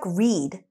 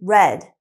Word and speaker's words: read: It looks like read, but remember, we need to use the past participle of the verb, so it's actually read.